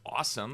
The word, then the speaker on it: ASOM: and you guys like no it's it's awesome awesome it's like oh okay so for those of you that are listening it's it's awesome right um but it